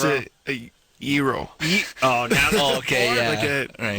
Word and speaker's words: gyro: I'm pretty sure it's a gyro. Oh, now okay, yeah. Like a gyro? Yeah. No. Sort of like a hero. But with not pronouncing the H that's not even there.